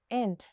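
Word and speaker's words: ain't: इसका प्रोनाउंसिएशन है एंड।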